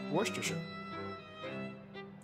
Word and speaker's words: Worcestershire: Am I pronouncing it right? Worcestershire. Worcestershire.